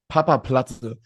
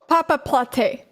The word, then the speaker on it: Papaplatte: It's in Germany we say Papaplatte, but there are also some Germans who can't pronounce it, so it's fine. No problem. It's very, very good. Papaplatte.